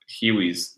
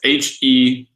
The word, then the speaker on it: Hewes: Hiwis. It's Hewes.